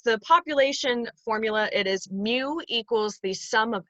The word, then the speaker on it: mu: see here if you don't know how to pronounce mu it's spelled m u um but it's not mu it's mu so